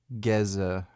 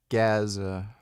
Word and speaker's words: Gaza: even close I'm Palestinian it's more like GZA it's Gaza some people from Gaza